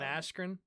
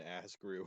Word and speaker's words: Askren: not remember but ben askren i'm pretty sure bennett mispronounced his name as he was going in apparently they called him ben ass grew or something but that just goes